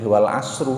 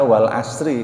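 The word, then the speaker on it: والعصر: dengan atas ciptaannya misalnya maka bacanya tidak boleh Wal asru l harus dibaca Wal Asri kalau dibaca Wal Asrul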